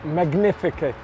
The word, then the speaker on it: Magnificus: the wine is pronounced magnificus mag magn I can't even pronounce it sounds